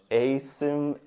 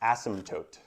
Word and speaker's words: asymptote: anybody have a guess what that word is Asim is actually pronounced ASM toote it's a fun one huh ASM toote so